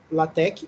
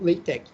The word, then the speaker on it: LaTeX: se matemática científicas e a pronúncia correta para a palavra l latec ou lei tec e esse daqui são